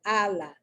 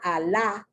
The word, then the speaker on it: ala: Okay, here you have another one, Allah. It's not Allah, it's Allah. The accent is on the first A.